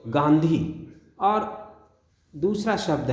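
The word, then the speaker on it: गाँधी: आ जो गांधी है गांधी शब्द है इसमें भी बिंदी से काम नहीं चलेगा चंद्रबिंदु लगेगी तो गांधी और दूसरा शब्द है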